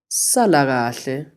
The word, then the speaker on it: Sala kahle: say goodbye in Zulu if you're the person who is leaving then you say salamati listen again to how CC pronounces this salah whathe it literally means stay well try it one